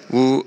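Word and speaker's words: 五: How do you say five? Yean. Woo. Woo. Woo. And woo sounds like good fortune.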